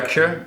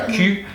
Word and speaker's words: queue: Say for say on fait la file to say, because if you say on fait la queue and you say it wrong, like on fait la cul, you'd say like we're making ass.